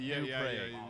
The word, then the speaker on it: New Prague: cities in Europe, but we pronounce them differently on purpose. We have a city called New Prague, and we pronounce it New Pra.